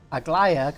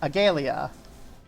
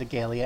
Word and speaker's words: Aglaia: Aglia complete. Agelia. That's incorrect, but we're gonna call it Agalia anyway. It rhymes with Fidelia.